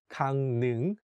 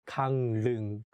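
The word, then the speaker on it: Gangneung: of this city and although it has the consonant leun which is for l sound when we say it we change it to n sound so it becomes kang ning not kang lung in the sentence we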